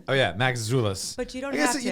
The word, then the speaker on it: Maczulis: just so everybody knows my last name is pronounced maxoulis oh yeah Max zulas but you don't yes